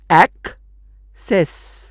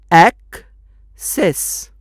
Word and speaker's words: access: इसमें पहले सी का उच्चारण है क और दूसरे सी का उच्चारण है स। ऐसा क्यों? क्योंकि दूसरा सी ई को लग के ई के पहले आ रहा है, इसलिए वो बन गया स। तो ये शब्द का उच्चारण बना एक्सेस, एक्सेस।